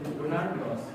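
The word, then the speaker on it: Ronald Ross: এই বিজ্ঞানীর নাম বলতে হবে রোনালদো রস সঠিক উচ্চারণে বলোড রোনাল্ড রস রোনাল রস একদম এবার যাচ্ছি গ্রুপ সি আছে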